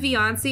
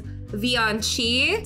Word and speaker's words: Vioncii: Okay, I said Vioncii in my last video. It is Vioncii.